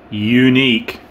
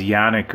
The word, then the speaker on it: Yuneec: we got we have something that's unique yes that's how you say it I guess unique I just thought it was Yannick or something like that but I